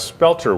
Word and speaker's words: spelter: is first it's it's you look at it you think petor but it's not it's spelter Weare which is a cast